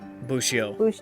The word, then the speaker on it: Bushio: Bushio. Bushio. Dude, it's easy. It's not that hard. It's 2 syllables. Cheeto, but without the Ito.